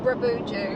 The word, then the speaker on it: Bruboodjoo: We've got about 300 clicks to do today, up to how do you pronounce it? Bruboodjoo.